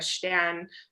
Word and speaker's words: Stern: I'm Stern, or Stern, as it would be pronounced in German, and I am the